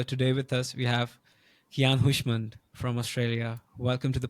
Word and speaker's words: Keyan Houshmand: Time signatures so today with us we have Kian hushand from Australia welcome to the podcast Keon thank